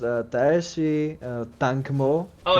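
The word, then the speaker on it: Tsaesci: to i don't know how to pronounce uh taishi uh tank mo oh it's it's oh yeah there's a there's official pronunciation for us they're actually called sayessy say yes that's how you suppose yeah yeah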